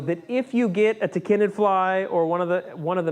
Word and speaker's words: tachinid: I will tell you, though, that if you get a tachinid fly or one of the many different species